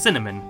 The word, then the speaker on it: CNMD: Mid-section of the game, you meet Macaron and CNMD, pronounced Cinnamon.